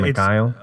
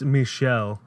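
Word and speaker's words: Michiel: Is it Mikael? It's Michelle. Is it Michelle? Yeah, I know that much just because all Europeans pronounce Michael.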